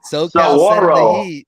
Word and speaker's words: Saguaro: Saguaro. SoCal Saguaro. It's spelled Saguaro.